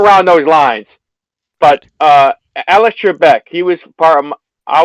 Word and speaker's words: Trebek: Trebek.